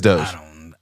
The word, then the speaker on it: Doge: It's Doge.